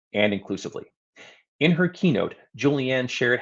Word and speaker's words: Julie Ann: It is with no small irony that during our conversation on inclusivity, I repeatedly got Julianne's name wrong. I called her Julie, not Julianne, which is a mistake I made in the moment.